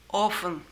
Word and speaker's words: often: В слове often не всегда произносится буква «т». Иногда она произносится, а иногда слово often произносится вот так – often.